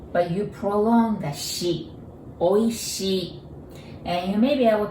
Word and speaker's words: Oishii: Oishii. There are 4 sounds, 4 Japanese characters, but I want you to take a look. There are 2 I's there at the end.